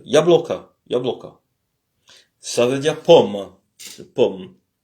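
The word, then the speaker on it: яблоко: L'accent est sur le O qui est au milieu, donc bloca. Le O qui est à la fin se prononce comme un A faible. Ya bloca.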